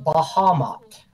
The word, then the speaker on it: Bahamut: My DM pronounces it Bahamut.